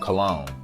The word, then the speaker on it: cologne: Why did you add that random ass G in there? There was absolutely no need to add that extra ass letter to confuse us all.